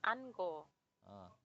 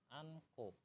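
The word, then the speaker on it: 않고: bacanya apa tadi sih dibacanya An He tapi lebih enaknya atau lebih tepatnya itu dibacanya Anko an sangok ini siap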